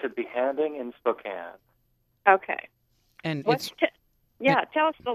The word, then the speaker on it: A Behanding in Spokane: Because we can't pronounce it. So you tell us the name, Kevin. It's a Behanding in Spokane.